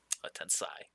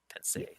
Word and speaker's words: Tensei: Tensai. Tensei, not tensai.